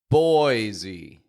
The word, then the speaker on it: Boise: de Mo and one more here how about boisey you ever heard of this place Boise this